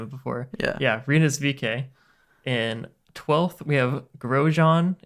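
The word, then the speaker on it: VeeKay: It's VK.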